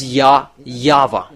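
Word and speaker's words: Yahweh: It's Ya Yava.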